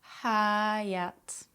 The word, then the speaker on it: hayat: But Turkish H sounds aren't silent. Practice lightly exhaling on the H sounds and go hayat, hayat, kahve, kahve, ahlak, ahlak, kahvaltı, kahvaltı, şehir, şehir, kahvaltıda kahveyle hayat harika.